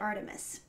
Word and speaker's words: ARTMS: do know is that you pronounce it Artemis so anyway we're going